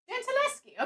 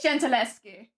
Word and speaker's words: Gentileschi: Gentileschi, I think that's how it's pronounced. How do you say the name again? Gentileschi.